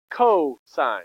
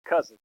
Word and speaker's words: cosine: really means sign now how do you say this co-sign not cousin cosign okay you got sign